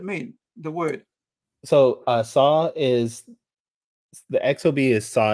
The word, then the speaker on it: XOB: it yeah xob so it's actually pronounced saw like s like s-a-w I guess is the